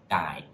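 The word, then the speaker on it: 大: It can be pronounced da, or it can be pronounced dai.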